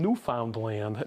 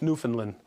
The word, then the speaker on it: Newfoundland: Yes, because I always would hear, hey, they're from Newfoundland. No, it's Newfoundland.